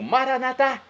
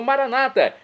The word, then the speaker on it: Maranata: coisas boas e agora eu clamo maranat como dizemos nós católicos ou Maranata como dizem nossos irmãos separados os evangélicos ou protestantes não importa pronúncia significado é o mesmo vinde Senhor Jesus um